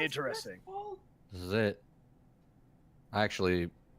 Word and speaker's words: Westfall: So this totally is Weastfall, huh? It's pronounced Interesting. Westfall.